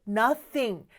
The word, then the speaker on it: nothing: 한다 맞아요 It's Nothing you th 발음 주의해 주셔야 돼요 나 씽 아니죠 그쵸 th 발음 잘하려면요 윗니와 아랫니를 살짝 뗀 상태에서 그 사이에 혀를 넣으세요 그러면서 혀를 뒤로 쏙 빼면서 바람만 내뿜는 소리예요 이런 바람입니다 바람 소리라는 거 기억해주세요 다시 한번 해볼까요 땡큐